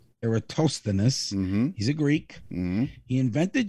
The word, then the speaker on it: Eratosthenes: yes his name is spelt e-r-a-t-o-s-h-e-n-i-s which is pronounced eratosthenes eratosthenes he's a greek he invented geography by being